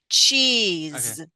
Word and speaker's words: cheese: Give me the Z sound at the end. Cheese.